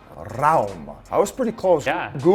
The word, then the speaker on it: Rauma: How do you pronounce Rauma? Rauma. Rauma.